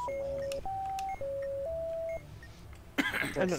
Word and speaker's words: Ypsilanti: But what about in a word like Ypsilanti? I don't know how to spell that.